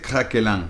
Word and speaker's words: craquelin: Esta manera de hacerlo con la galletita por afuera, en francés se dice craquelin. Craquelin se escribe craquelin.